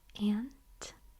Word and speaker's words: aunt: So, some people say aunt Ant. Aunt. I have some northern relatives very far north and they say ant.